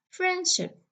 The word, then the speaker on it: friendship: Friendship, friendship. Okay, friendship. I don't say friendship.